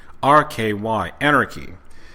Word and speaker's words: Anarky: It's not spelled the exact same way as it should be, but it's spelled Anarky, Anarchy.